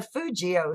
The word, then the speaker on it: Fugio: The first penny, struck in 1787 by a private mint, was known as the Fugio cent. It was 100% copper. And I'm hoping I pronounced that correctly.